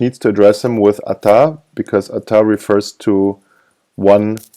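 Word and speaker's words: אתה: in parentheses as well you don't say attah you say Atta ATA okay and Atta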